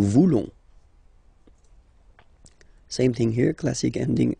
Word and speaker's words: voulons: Then for nous, classic ending, O-N-S, don't pronounce the S, just pronounce the ON. Nous voulons. Nous voulons.